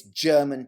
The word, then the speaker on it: Gherman: was talking about german g-h-e-r-m-a-n is how we spell it but it looks like german it's german titov it could easily be pronounced like that we are approximately what